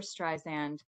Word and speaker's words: Streisand: I mean, none other than Barbara Streisand. Soft ass guys, make sure. Pronounced like sand.